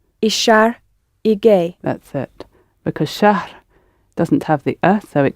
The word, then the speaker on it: شهر: It's a little unfamiliar to the English mouth, English-speaking mouth, to put h in the middle of a word. But it is pronounced, so it's shahr. H, r at the end.